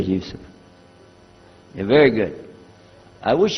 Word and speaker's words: Yusuf: Do you say Yusuf? You say Yusuf. Yeah, very good. I wish you'd teach my wife. She keeps mispronouncing it.